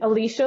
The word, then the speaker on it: Alysha: I'm on LinkedIn, Alicia, A L Y S H A, but pronounced like Alicia Keys.